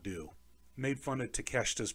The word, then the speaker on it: Takeshita: Made fun of Takeshita's pronunciation. He called him Takeshita. And it's what I did a couple of times. In my head, it's hard not to, because in English, it's Takeshita. But Takeshita, first of all, his Japanese